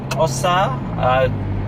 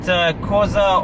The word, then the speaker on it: Xhosa: Look, majority of South Africa is either Zulu or Xhosa. It's not pronounced correctly like that, but it's close enough. Yeah. But Xhosa or the Zulus, that's majority of South Africa.